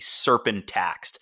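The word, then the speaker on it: Cerpin Taxt: Serpent, but with a C, so it's a soft C. Serpent Taxed.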